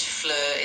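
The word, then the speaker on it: fleur: In French, flur is pronounced somewhat like flur with a a soft meth sound and a a rounded e sound in the middle.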